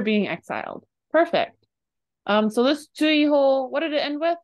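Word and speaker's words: 追放: Chuiho is how you say it.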